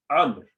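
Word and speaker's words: عمرو: When you find a wow like this, at the end of Umar, it's pronounced Amr, okay? It is Amr, okay? Amr, not Umar.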